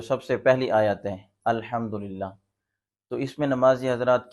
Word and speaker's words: الحمدللہ: سورۃ الفاتحہ جو سب سے پہلی آیت ہے الحمدللہ، تو اس میں نمازی حضرات کیا غلطی کرتے ہیں الحمدللہ، تو یہ تلفظ درست نہیں ہے۔ درست تلفظ اس کا یہ ہے الحمدللہ، الحمدللہ۔ اسی طرح سورۃ اخلاص میں لفظ قل هو